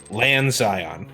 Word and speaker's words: Lanxion: It's actually pronounced Lanxion. Okay. I'm sorry. Lanxion. No, Lan. Lan. Lan. Xion. Xion. Thank you. Lan Zion. Yes.